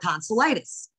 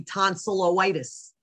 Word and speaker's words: tonsillitis: pronunciation than anything else a combining vowel is not used when the suffix begins with a vowel so tonsillitis when you're joining the tonsils tonsil with the suffix itis which is inflammation of you don't need that o because then it would be tonsilloitis which sounds really strange so okay now we'll